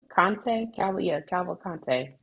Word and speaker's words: Cavalcante: Cavalcante.